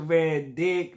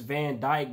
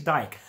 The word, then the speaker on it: van Dijk: video we got the one and only virgil van dick man i know his name is van dyke but my whole frame of thinking when i